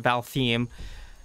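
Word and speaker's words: Valtheim: balthy and god balheim i got it the pronunciation val theme tomorrow i'll have to do that tomorrow i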